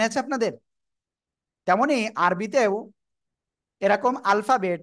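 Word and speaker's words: ألف: আলিফ। কি বললাম? আলিফ। কিভাবে উচ্চারণ করতে হবে?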